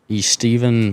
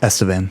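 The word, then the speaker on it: Estevan: Um, and then uh the second night of that at uh East Steven Motor Speedway. Is that how you say it? Estavan. Estan. Estavan. Estavan. Okay. That's Steven in Spanish, by the way.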